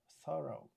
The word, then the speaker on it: thorough: Thor thorough thorough greeting is not thor thorough.